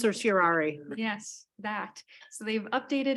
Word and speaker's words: certiorari: How do you pronounce it? Certiorari.